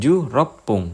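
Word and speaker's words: 十六分: 16 ikut aturan yang 6 menit karena huruf belakangnya 6. Jadi bunyinya pung. 16 ju rop pung.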